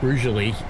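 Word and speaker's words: Rugeley: I'm still thinking about that cuz they're cheap as Rally. Trent Valley coming up next. It's funny, isn't it? You pronounce that roually.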